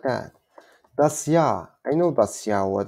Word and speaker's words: Jahr: Das Jahr. Das Jahr. So you can think not G, you can think like this sound, das ja.